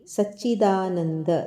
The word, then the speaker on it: ಸಚ್ಚಿದಾನಂದಂ: ಕೃಷ್ಣೌ ವಂದೇ ಜಗದ್ಗುರುಂ ಯೋಗೇಶಂ ಸಚ್ಚಿದಾನಂದಂ ಇಲ್ಲಿ ಸಚ್ಚಿದಾನಂದ ದದ ನಂತರ ಬಂದ ಅನುಸ್ವಾರ ಅನುನಾಸಿಕ ವದ ಉಚ್ಚಾರಣೆ ಅಂದ್ರೆ ಮೂಗಿನಿಂದ ವದ ಉಚ್ಚಾರಣೆ ಸಚ್ಚಿದಾನಂದಂ ವಾಸುದೇವಂ ವ್ರಜಪ್ರಿಯಂ ವಾಸುದೇವಂ